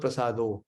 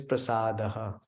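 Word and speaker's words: प्रसादः: we say bhagavata foreign it is not Bhagavad Prasad is wrong 99.9 percent they pronounce and sing along it is prasadaha and what kind so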